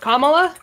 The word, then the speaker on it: Kamala: I also feel like it's pronounced Kamala.